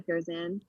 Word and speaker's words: Curzan: And you even have teammates now at Stanford who have swam in the Olympics, like Claire Curzon, I think it. How do you pronounce her name? Sorry. Yes, Claire Curzan.